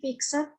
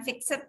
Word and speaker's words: fixed: Terdiri dari biaya variabel, 2 biaya semi variabel, 3 biaya semi fixed, dan biaya tetap. Biaya semi fix ya, bukan fixed ya. Nulisnya aja fixed, bacanya fix.